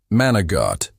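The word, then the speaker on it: manicotti: In a civilian setting, one might say manacotti, but in a room full of wise guys, it was managott.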